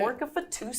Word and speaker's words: Pork-A-Fatusa: Pork-A-Fatusa.